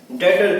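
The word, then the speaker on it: debtor: ठीक है, अब बात आती है डेटर की। डेटर्स। ठीक है, इसमें ये बी साइलेंट होता है, डेप्टर नहीं बोलते इसको, डेटर बोलेंगे।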